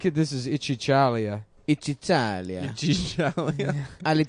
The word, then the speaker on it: Italia: Italia. Alitalia. That's how it's pronounced in their language.